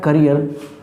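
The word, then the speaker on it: carrier: इसका प्रोनाउंसिएशन होता है करियर और इसका प्रोनाउंसिएशन होता है कैरियर।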